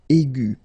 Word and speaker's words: aigu: Okay, and then the feminine form will be aigu. So phonetically, it is exactly the same thing.